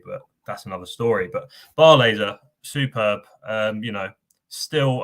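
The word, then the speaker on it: Barlaser: right down no yeah bar laser that's how you do it i know it's a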